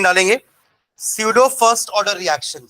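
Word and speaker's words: pseudo: है तो ने डालेंगे सूडो first order reaction सूडो सूडो silent रहेगा सूडो फर्स्ट ऑर्डर रिएक्शन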